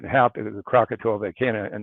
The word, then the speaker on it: Krakatoa: And by the way, Krakatoa is how you say it in English. Krakatau is it more like when the Indonesians would say it, or the Asians. And Krakata is how it's said in Sanskrit, and Krakaka in Dravida.